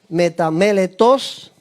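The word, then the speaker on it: ἀμεταμέλητα: escrito en griego, Edward, que se pronuncia así, metameletos, y significa no arrepentido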